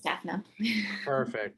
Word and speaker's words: Daphna: But yeah, Daphne, how are you today? I'm good. Am I pronouncing your name right, by the way? Yes, you Okay. are. It's Daphna.